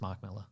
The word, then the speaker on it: Mark Miller: the comic book writer I think that is just pronounced Mark Miller yeah but it's spelled like m i l l e r I'm like oh Frank